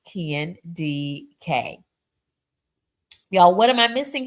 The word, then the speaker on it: Kendi K: Kendi K, pronounced Ken D.K.